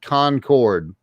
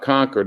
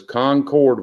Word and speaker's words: Concord: up in in um concord you said concord that's correct not conquered it is concord when you're in court